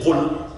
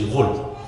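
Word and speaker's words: قل: their local dialect is they turn the qaf to a ga, like a ghain, right? So they won't say qul, they say ghul, right?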